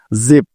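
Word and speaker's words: jeep: থাকুক না কেন তাইতো তাহলে জ এর জন্য নিয়ে নিলাম যেই এবার তারপরে আছে ডাবল ই আর আমরা জানি যে দুটি ই মিলে দীর্ঘ ইকারের সাউন্ড দিয়ে থাকে সুতরাং যেই ডাবল ই মিলে হয়ে যাবে জি এবং শেষে আছে পি তাই পি এর জন্য নিয়ে নিলাম প্যাস তাহলে যেই ডাবল ই পি একত্রে মিলে হয়ে যাবে জিপ জিপ জিপ অর্থ হলো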